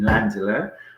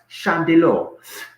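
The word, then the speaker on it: Llandeilo: Also, we had in the studio Mark Bleasdale, sports massage therapist in Landelot, or apparently in Wales it's pronounced Chandelor.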